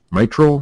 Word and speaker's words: mitral: to pronounce this wrong, mitral valve? Is that how you say that? I think you got that right there, son.